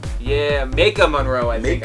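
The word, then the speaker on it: Maika Monroe: Malikica Monroe. Yeah, Ma Monroe. I think I don't think there's an L in that one. Ma Monroe. I added the L.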